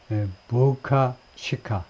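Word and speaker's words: Boca Chica: 텍사스이가 멕시코인 바로이 가까이에 있네요 경 가까이에 보카치카 발음은 보카치카 뭐 이런 식으로네요 부스터 추진 로켓이라고 그러네 우리말로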